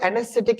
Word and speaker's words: anesthetic: And the word anesthetic is stressed on syllable and first, second, third, fourth syllable. Anesthetic third syllable.